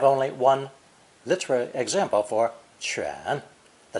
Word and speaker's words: 犬: This character is pronounced third tone, 犬, 犬, and is a radical that will enter into many future characters.